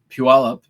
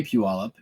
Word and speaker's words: Puyallup: valley in puyallup washington uh puyallup is how you say puyallup it's p-u-y-a-l-l-u-p it's a word that or a place name that it seems nobody but from somebody from washington knows how to say if you all up